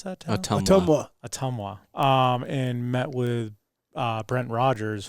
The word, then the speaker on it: Ottumwa: How do you pronounce that town? Ottumwa.